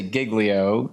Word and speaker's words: Giglio: at my last name not knowing how to pronounce it and so it would be louie um and i would say giglio and then i would say i go by